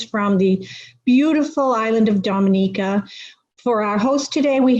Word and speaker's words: Dominica: boom we call it dominica yes the nature i love the caribbean it's rum punch time oh we call it dominican it is spelled d-o-m-i it is not dominican republic it is pronounced dominica and is situated between